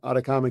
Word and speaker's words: Ataccama: Atacama rhymes with llama. Llamas are in the Chilean desert, which is the cleanest air in the world, so to speak, which is where the name Atacama came from.